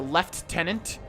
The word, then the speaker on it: lieutenant: from either the lieutenant or as they pronounced it, the left tenant, which I think is like an English way of pronouncing it right, or the captain, but